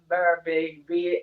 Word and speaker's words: Birbiglia: He does not, and it's his, but it's Birbiglia, and it's like Modigliani.